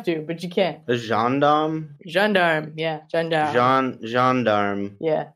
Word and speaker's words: gendarme: forget if you want a nitpicky french pronunciation correction uh sankara's dad was a john darm all right i will